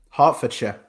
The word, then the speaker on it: Hertfordshire: So this first song comes from a band called The Subways, out of, and I'm probably going to pronounce this incorrectly, so I severely apologize, Hertfordshire, UK? Hertfordshire.